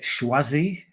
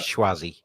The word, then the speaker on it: Choisy: It's spelled Choisy. Is it Schwazi? Choisy? Schwazi. It's not We'll Choisy. We'll go with Schwazi. Yeah, Choisy is like me being like 8 years old trying to say it.